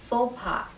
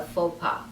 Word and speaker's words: faux pas: sounds like f o the u x at the end of it is not pronounced it's pronounced and the